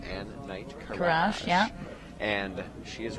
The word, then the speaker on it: Ann Knight Karash: Ann Knight Karash.